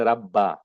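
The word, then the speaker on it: رَبَّ: You must say Rabba, Ya Rabbal Alamin. Okay, that is the right way to say that.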